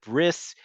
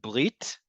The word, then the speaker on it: brit: Bris is the Ashkenazi way of saying brit, and brit is only part of the term brit milah.